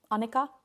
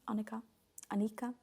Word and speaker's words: Annika: And Annika, that's how you would say it in Norwegian. Annika.